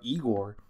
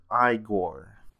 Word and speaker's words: Igor: waiting for speaking of Igor I know him best from Young Frankenstein or perhaps is it I gore you must be Igor now it's pronounced I go but they told me